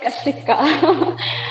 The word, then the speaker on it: Kika: much first of all it's Kika most of them take my name wrong that's okay I